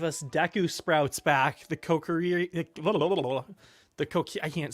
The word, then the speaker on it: Kokiri: The Kokiri, I can't say it now. The Kokiri, Kokiri have not replaced them. the Kukara. No, it's the Kokiri. The Coquiri.